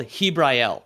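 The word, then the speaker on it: Jibrael: He is called Hibrael, which of course it's a Spanish game spelled with a J.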